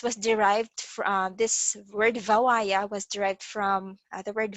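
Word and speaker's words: Bhawaiya: among all um so it's bh but it's pronounced as v in bangla so vawaya is a folk song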